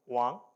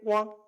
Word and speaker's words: Wang: So my last name, if you say it properly, is this one, Wang. Okay. So if you say Wang, no, it's wrong, right?